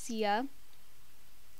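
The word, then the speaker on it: Xia: and her name is Zia. It's spelled with an X, so X-I-A, it's not Z-I-A.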